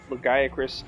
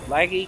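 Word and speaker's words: Lagiacrus: wronged when they pronounce Legac Lagy Acris. Like, yes, laggy can be short form for legac, but I've never pronounced it laggy. Even though it's technically the correct Japanese pronunciation, I'm like, I don't care.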